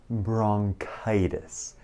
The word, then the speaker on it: bronchitis: bronchitis. K. ننطق CH مثل K.